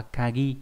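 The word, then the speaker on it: 限: Đọc là Kagi nhé.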